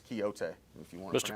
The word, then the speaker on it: Quixote: Parsons, it's Quixote, if you want to pronounce it correctly.